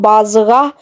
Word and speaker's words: Bazigha: यहाँ पे हे की आवाज है दोस्तों, तो बाज़गाह बनता है ये नाम।